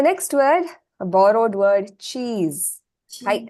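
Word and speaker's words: チーズ: The next word, a borrowed word, cheese. Hi, how do you pronounce this? Cheese. Cheese. Cheese. Okay, cheese. So chi, the first chi is elongated.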